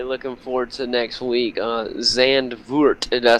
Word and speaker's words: Zandvoort: Zandvoort, did I say it right?